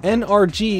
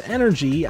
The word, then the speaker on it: NRG: of those fun names no I did not say his name is energy I said his name is NRG get it just like XLR8 anyway he's basically a